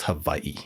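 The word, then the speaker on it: Hawaiʻi: Hawaiian would be pronounced havi. Yeah. Though a W is actually a V sound in the language.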